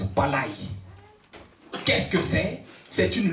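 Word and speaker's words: πάλη: Le mot lutter vient du grec palé, qui se prononce palai.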